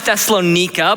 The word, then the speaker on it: Thessalonica: the church of thessalonica thessalonica for me yes some pronounce it thessalonika but it's a tongue twister and it was the